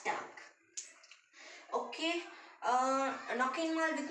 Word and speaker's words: Tag: see the day like in german we pronounce day as tank okay uh knock involved